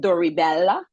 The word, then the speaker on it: Doribella: me, of course, and Doribella. Did I say it correctly? Yeah, it's beautiful.